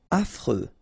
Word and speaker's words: affreux: Affreux. Final X not pronounced. And then you get this freux.